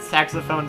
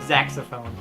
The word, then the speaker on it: saxophone: Gazambo wanted to point out that Jay pronounces the word saxophone Zaxophone, which is true, but also relevant.